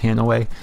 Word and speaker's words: Hanoi: map Hanway it's by the way it's not pronounced Hanoi it's pronounced Hanway but the map Hanoi is based on the